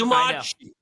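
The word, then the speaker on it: Omarchy: in here is that the pronunciation is Omachi. Okay, so what happened to the R? Where did the R go in that? You swallowed it as a proper Dane.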